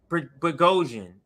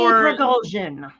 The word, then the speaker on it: Prigozhin: for me it's so hard to remember to pronounce his name correctly. But let's Prigozhin. bring up Prigozhin. Okay, Yes. so I'll try to remember that for Yevgeny Prigozhin.